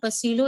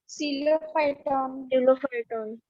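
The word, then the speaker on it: Psilophyton: It is not Pacilo, it is Coelo. P is silent. Like in pneumonia, we do not say pneumonia, but we write P.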